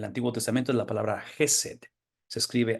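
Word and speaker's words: חסד: palabra en el Antiguo Testamento es la palabra jesed se escribe h e s d y tiene que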